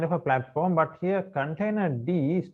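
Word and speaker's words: containerd: Container D, that is how it's pronounced, D for daemon, is an industry standard container runtime with an emphasis on simplicity, robustness, and portability.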